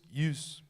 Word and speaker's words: ewes: 20 he goats 200 US use as you pronounce that ewes 20 use 20 Rams